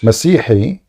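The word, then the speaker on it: مسيحي: How do you say Christian in Arabic? Masihi. Is it Masihi. Masihi or Masihiyun? No, a Christian is individual.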